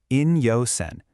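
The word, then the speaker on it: 陰陽線: These characters are pronounced in-yo-sen.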